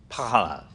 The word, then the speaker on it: Panhard: And it's pronounced Panhard? The French call it pas. Panhard.